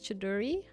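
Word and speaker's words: Choudhury: The H is silent. That's why it's Chaduri.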